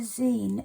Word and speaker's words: zine: Now, a Zen, it's spelled Z I N E.